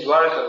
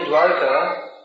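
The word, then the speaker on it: द्वारका: He also lives in Dwarka, which is a city. Of course, Dwarka is the ISKCON pronunciation. And the real pronunciation is Dwarka. All Dwaris in ISKCON say Dwarka, I don't know why.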